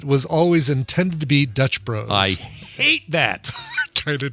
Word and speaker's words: Dutch Bros: It's it's pronounced Dutch Bros, not Dutch Brothers.